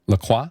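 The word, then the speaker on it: LaCroix: czer like flavored seter it's like the lacroy is that how you pronounce it laqua mm yeah yeah I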